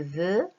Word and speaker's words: veux: Par exemple, quand je dis je veux manger, je ne vais pas dire je veux que, on ne prononce pas le X.